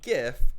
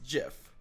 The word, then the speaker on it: GIF: The letters GI, like giraffe, you don't say giraffe, you say giraffe. It's the same thing, because if you're making GIF a word, you have to say it properly, and it is not GIF, it's GIF, unfortunately.